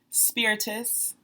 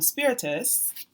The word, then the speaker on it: Spiritus: But Spiritus, and I have been mispronouncing it. I was like Spiritus because I thought it sounded fancier. But it's Latin for breath, and Virgil's dance is